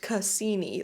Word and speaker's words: Cassini: you said it's pronounced Cassini, like you spelled it out phonetically. And then you said like the astronomer.